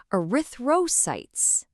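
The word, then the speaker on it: erythrocytes: So you see a word like arythosytes. Let's try saying it together. Ariththroytes.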